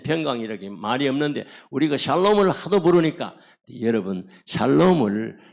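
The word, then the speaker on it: שלום: 그렇게 할 때는 궁둥이를 샬랑샬랑 흔들면서 샬롬 샬롬 샬롬 굉장히 좋아해요.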